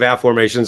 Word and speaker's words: Afformations: many years ago this is my book of a formations I've written 24 books I won't hold them